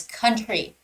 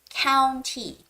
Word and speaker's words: county: students read this passage I believe 10 out of 10 would read this word as country because you guys are more used to the word country right but no it's County so it's Forestdale County